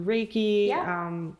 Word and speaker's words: Reiki: Like if you because you yourself do Reiki.